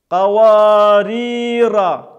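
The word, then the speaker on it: قوارير: азиму, азиму, абабила, абабила, каварира, каварира. Обратите внимание, что первая ра читается мягко, вторая твердо.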